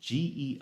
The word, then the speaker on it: geosmin: I never know how to pronounce it. Geosmin.